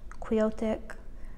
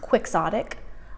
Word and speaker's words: quixotic: a quick Sonic polish queotic Grounds for Hope it's pronounced quixotic but I want to call it queotic I think queotic just sounds better but I know it's quixotic um this one is